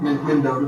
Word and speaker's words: Mendota: Mendota, M-E-N-D-O-T-A, Virginia.